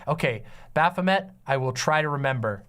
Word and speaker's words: Baphomet: I've definitely hearing Bethany but Beth it is pronounced Baphomet okay I I pronounced lots of things very